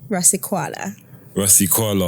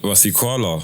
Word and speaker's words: Rasekoala: Rasekoala. Like koala bear. Like Rasekoala.